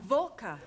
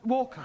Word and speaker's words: Walker: at Mrs Walker Walker what that W is pronounced your employer's name is Walker yeah volca do you know how many shirts Mrs Walker made me iron last night walker yeah then I had